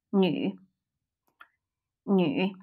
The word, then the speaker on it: 女: 很多很多很多很多 Man or male is 男男男 Woman or female is 女 A low tone 女女 City is 城市城市城市城市 Money